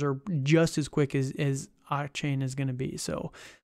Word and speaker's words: Achane: It's Achane. Yeah, it's Achane. So it is chain.